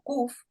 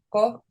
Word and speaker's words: Kof: dejaré la pronunciación porque la pronuncian como Kuf y también la escriben con una K. Yo he hecho un trabajo también para poder diferenciarlo de la Kaf, Kaf, para verdaderamente pronunciar como es la Kof. Kof no es K, es Kof y además es gutural, Kof, Kof. Viene de la garganta, es una gutural.